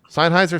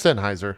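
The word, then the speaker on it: Sennheiser: JP what's up senheiser seiser senheiser it's senheiser I know I just pronounced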